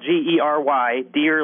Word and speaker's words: Gery Deer: Just do a Google, and that's with a G. It's spelled G-E-R-Y, deer, like the animal.